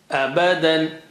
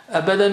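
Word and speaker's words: أبدا: Abadan. Abadan means forever, forever.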